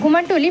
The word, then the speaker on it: কুমারটুলি: আমরা কথা বলবো কুমোরটুলি নিয়ে। কুমারটুলি কথ্য উচ্চারণে কুমোরটুলি কলকাতার উত্তরভাগে অবস্থিত একটি পাড়া।